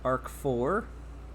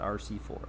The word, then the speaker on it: ARC4: This is pronounced ARC4. I'm not sure why. I've always thought RC4, but I realized they call it ARC4.